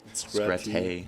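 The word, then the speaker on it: Scratte: How do I pronounce it? Oh yeah, this is the other. What's her name? Scratay.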